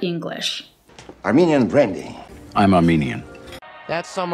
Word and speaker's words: Armenian: with i a n Armenian Armenian Armenian it's not correct to say Armenian you have to use the long e Armenian the country is